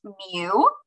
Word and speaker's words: mu: the population symbol is this Greek letter here pronounced mu and that means if we have every single